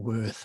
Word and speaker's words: Wirth: of them, and then Oswald Wirth, or Worth as its surname usually pronounced, the Wirth deck, and then Robert Wang's Jungian Tarot, and I ordered all 3, of course, immediately.